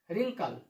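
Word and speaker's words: wrinkle: Right, wrong, wrist, Wraith, रिंकल, Regal. देखा किस तरीके से उच्चारण होगा, यानी जो ये डब्लू है ये क्या होगा हमारा, साइलेंट लेटर होगा।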